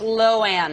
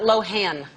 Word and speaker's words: Lohan: Let me just make sure that I'm pronouncing it's Lohan, not Lohan. Lohan. Lohan. It doesn't really matter. Sure it does. No, it doesn't. My family says Lohan. I say just say Lohan.